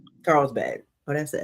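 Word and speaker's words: Carlsbad: There's quite a few in LA, a new one in Lagona, and one in Carisbad. Did I pronounce that right? Carl'sb. Yeah, Carl'sbad.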